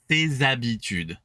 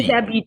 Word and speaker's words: ses habitudes: So H, silent completely. Ses habitudes. Think sesame, Ses habitudes.